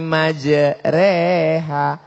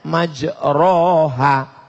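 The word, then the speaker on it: مجراها: membaca email lah bismilahi majreha tulisannya majroha Tapi bacanya miring bismillah imaj reha namanya Imam Al mall-mall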